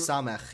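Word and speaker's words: Samekh: I was considering joining Alice's RP, which is Capes of Samek or something like that. And I was reading through Samech, yeah.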